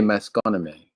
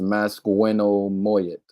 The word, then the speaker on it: Masconomet: We say Masconomet or Masconomet, but they're saying it's pronounced Masquinomoyet, from the Nipmuc, to whom he was related by marriage.